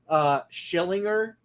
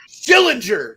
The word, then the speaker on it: Schillinger: remember in Oz when everybody was calling him Schillinger? Oh man, there's so many clips on YouTube of them calling it wrong. I've been here 8 fucking years. Say my name right. Yeah, it's Schillinger.